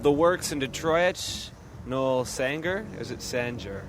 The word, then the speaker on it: Sanger: Noel Sanger? Is it Sanger? Sanger. Sanger. Sanger. All right. Is that a southern pronunciation or?